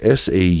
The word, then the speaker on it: saudade: It's spelled S-A-U-D-A-D-E, saudade.